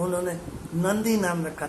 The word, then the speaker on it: Nandi: तो उसी पे ये नाम नंदी रखा हुआ है, और इसको स्पेल करते हैं NANDI, नंदी, but they call it एज ए नादी, एन साइलेंट है, नादी।